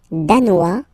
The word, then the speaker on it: danois: Le Danemark, danois, danoise. Okay, insist on that. Danois, don't pronounce the final S. Danoise, here you pronounce it.